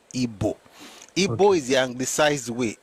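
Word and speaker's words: Igbo: No, my point is Ebo people don't pronounce ebo.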